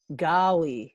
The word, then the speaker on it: Gaali: of renditions i've i used to get a golly all the time when i was a kid